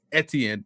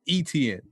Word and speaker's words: Etienne: knew anything so yes it is a french creole canadian name it's etienne not etn and there it is